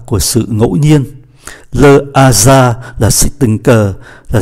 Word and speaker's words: hasard: Như vậy chúng ta để ý chữ hasard, chữ H này là H aspiré, chúng ta không có đọc nối và phải đọc là le hasard, par hasard.